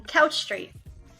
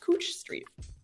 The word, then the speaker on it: Couch Street: all right and then Couch Street and it's like it should be easy but it is not um this is a Street in Portland and it's actually pronounced cooch Street um but this is